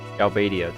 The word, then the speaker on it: Galbadia: Galbadia, that's how you pronounce it.